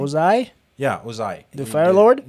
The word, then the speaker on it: Ozai: for Ozan. Ozan? Is that how you pronounce his name? Ozai, Yeah, Ozai.